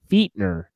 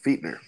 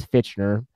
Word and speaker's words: Fichtner: His name is pronounced Fichtner. Yep, Fichtner. I thought it was Fitchner.